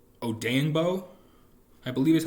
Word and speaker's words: Odeyingbo: There's another guy whose name is Odenegbo, and it's spelled similar. So I want to say that as opposed to Odeyingbo.